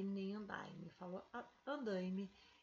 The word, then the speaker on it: andaime: veja aqui mesmo tendo ue eu continuo falando andaime nas alisando lá e elaine nas aulas dando o é o nas realizado lá também não falo ela' e nem online ele falou andaime e elaine e o outro exercício a ação